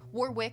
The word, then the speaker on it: Warwick: at the University of Warwick. I'm going to keep saying it like that because why would you forget there's an extra W in there?